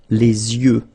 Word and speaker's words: yeux: and then the plural, Les yeux. Okay, you make this liaison between the two. Les yeux. Okay, final X not pronounced.